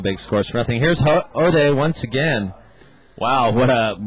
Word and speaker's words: Hodei: be the 551 that oday wants and uh thank you very much to some of our Spanish speakers writing in and uh telling us not to pronounce the h in in od's name because otherwise uh